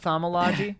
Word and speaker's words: thaumaturgy: It's pronounced thaumaturgy.